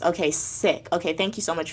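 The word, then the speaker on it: Sikh: Okay, so MJ said yes, it's pronounced okay sik. Okay, thank you so much for the clarification. So, in the sik temple, okay, actually, but um, everyone says seek.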